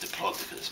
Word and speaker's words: Diplodocus: I think it's supposed to be pronounced Diplodocus, but Diplodocus sounds cuter.